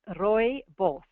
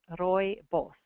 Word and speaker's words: rooibos: human trial they drank rooibos tea also you might notice Red Bus red bush and I'll pronounce that Afrikaans pronunciation for you it's Roy boss Roy boss so they drank this